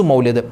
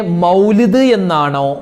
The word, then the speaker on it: മൗലിദ്: സദസ്സിനെ സ്വീകരിക്കുമാറാകട്ടെ അപ്പൊ മങ്കൂസ് മൗലിദ് ഉസ്താദേ മൗലിദ് എന്നാണോ മൗലൂദ് എന്നാണോ പറയേണ്ടത് പലരും പറയുന്നത് മൗലൂദിന് പോകുന്നില്ലേ മൗലൂദ് ഉണ്ടല്ലോ മൗലൂദ് മൗലൂദ് മൗലൂദ് എന്നല്ല കറക്റ്റ് അതിന്റെ ഉച്ചാരണം മൗലിദ് എന്നാണ് എന്താണ് ഈ മൗലിദ് എന്ന